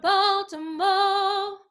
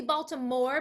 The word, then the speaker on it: Baltimore: in philly boston or baltimore it's supposed to be baltimore but they want it to rhyme with show so we say baltimo right so sing it